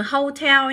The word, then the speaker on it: hotel: cho mọi người thêm từ này là từ hotel nhé từ này cũng rất hay thi nhá các em nhé coi đề sắp tới của các bạn để ở đâu hay thi nhá Tức là cái từ danh từ bình thường các bạn nhấn vào số 1 nhưng mà đây từ này chúng ta mặc dù là danh từ nhưng mà các bạn lại nhấn vào hàng thì có thể học